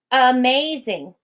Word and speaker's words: amazing: So let's listen to this word, amazing. Amazing. Did you hear the in the first syllable? Amazing. That's written in, this is in written language. That sound in the word amazing would be written with an A. But because that first syllable in the word amazing is unstressed, we speak it with the schwa sound.